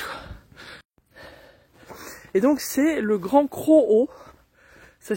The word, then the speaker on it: Grand Crohot: de la plage quoi et donc c'est le grand cro ça s'écrit C r o h o T et